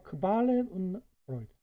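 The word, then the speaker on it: Qualen und Freuden: 고통과 크발렌 운 프로이드. 발음할 때 주의해야 되죠.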